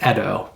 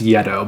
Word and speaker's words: Yedo: actually pronounced correctly as edo so edo deluxe master set i think the y is silent although it is commonly pronounced yet oh by board gamers i